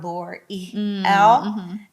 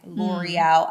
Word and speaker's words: Loriel: It's so crazy because the business name is just the pronunciation, like the breakdown, L'Oreal. And then I broke free from that because that was just a phase in my life where now I changed to my government, L'Oreal, LORIEL. Okay. With the correct spelling, not the pronunciation, because I'm owning who I am.